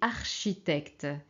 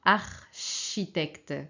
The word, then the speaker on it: architecte: qui manque ici alors architecte comment on peut avoir le son che en français ok alors c'est comme en italien mais on prononce che donc C et H très bien alors deuxième